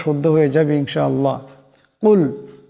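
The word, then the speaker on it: قل: শুদ্ধ হয়ে যাবে ইনশাআল্লাহ কুল এখানে বড় কাফ আছে আওয়াজটি গলা থেকে আনতে হবে কুল কুল এমন করে আউজু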